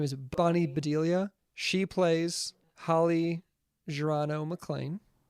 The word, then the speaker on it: Bonnie Bedelia: i think how you say her name is bonnie bedelia she plays holly gerardo maclean and she actually